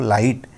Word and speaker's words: light: Again लाइट, लाइट में भी देखिए आप LIGHT, यहाँ पर अगर देखिए LIT तो यहाँ GH तो साइलेंट है, तो लिखने में कुछ और GH भी लिखते हैं, लेकिन हम जब बोलेंगे तो क्या बोलेंगे, सिर्फ लाइट।